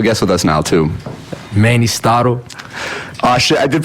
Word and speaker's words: Mannystotle: Mannystotle. Oh, shit, I did pronounce it wrong.